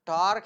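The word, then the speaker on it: tau: Case Greek letter है जिसको हम बोलते हैं या प्रोनाउंस करते हैं टा, टी ए यू टा, ठीक है।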